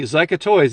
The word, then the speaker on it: Zica: And then another company, Zica Toys, and that's how you say it.